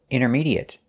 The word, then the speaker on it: intermediate: We notice that the T is silent. We don't say intermediate. We say inner. Intermediate. And the at the end is pronounced at. There's no at sound. It's short at. Intermediate. And it's a stop T.